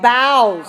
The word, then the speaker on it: boughs: bo you GH now notice the sound of the vowel is not the same although has the O sound but bow has the owl sound our sound so Oh ugh in English